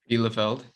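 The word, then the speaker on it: Bielefeld: bundesliga with armenian uh how do you pronounce the second word lefeld okay armenia bilafeld pretty big move no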